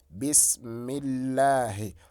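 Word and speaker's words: بسم الله: So for instance here, it's going to be bismillahi. When you bring this word up to this extent here, it is bismillahi.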